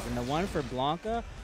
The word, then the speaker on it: Blanka: and the one for Blanca Blanca rhymes with talk up that's how I remember